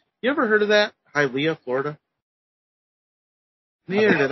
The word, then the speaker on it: Hialeah: And apparently it's Hialeah. Hialeah. Hialeah. So it's almost like it sounds like it would belong in Hawaii if you think about it.